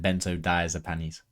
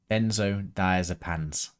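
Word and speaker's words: benzodiazepines: Nonbenzo dazipan non-benzoazipan and then benzoazipanies. Not panies, benzoazipans.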